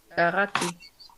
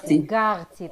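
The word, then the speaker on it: גרתי: Garati. Garti, that's the correct.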